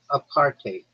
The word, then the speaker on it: apartheid: It's pronounced apartate or apartate with a bit of a Dutch style hive at the end like height with a D. It's made from apart and hide.